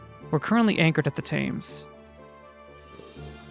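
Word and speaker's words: Thames: Isn't the tames pronounced temps? It might be. I am I am a I am a American so I don't I don't know never visited it personally. Was this the gear hanger? This is a freaking elevator. All right, the gear hanger's that way. It definitely might be the temps. But why do they pronounce it so stupid?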